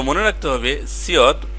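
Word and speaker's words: 시옷: এবার আছে সিয়ত। তো মনে রাখতে হবে সিয়ত প্রথমে বসলে স, মাঝখানে বসলেও স এবং যদি নিচে বসে তখন সেটার উচ্চারণ হবে ত।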